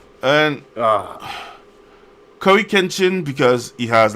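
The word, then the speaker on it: CoryxKenshin: One is Cory Kenshin, so the X is silent like Hunter x Hunter.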